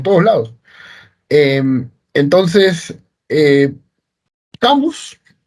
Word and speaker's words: Camus: Eh, entonces, eh, Camus, por ejemplo, famoso filósofo existencialista, o Camus, si quieren pronunciarlo con estilo francés, decía que la verdadera pregunta que hay que hacerse en filosofía es ¿por qué no suicidarnos?